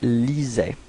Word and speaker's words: lisait: So remember what I said, you know, even if we've got so many letters, we don't pronounce them after AI. Okay, lisait.